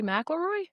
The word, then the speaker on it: McIlroy: And I'm going to speak on Rory McIlroy because, oh my God, did I just say his last name wrong? We might have to edit that out. Rory McIlroy?